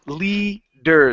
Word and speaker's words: leader: it in English Okay so this is It's leader so you have to switch the r and